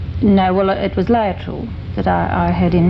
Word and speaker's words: Laetrile: Now, this injection, I've got it written down here because you call I didn't know how to pronounce it. L A E T R I L E.